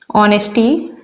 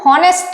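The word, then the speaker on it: honest: तो ऑनेस्ट के पहले क्या लगाएंगे, देखिए लिख जरूर हम हॉनेस्ट रहे हैं, पर इसको पढ़ क्या रहे हैं, इसका प्रोनाउंसिएशन क्या है, अ से स्टार्ट है, ऑनेस्ट।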